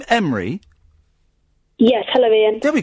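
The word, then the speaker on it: Emre: Is your name Emry? Yes. Hello Ian. There we go. Do we pronounce that?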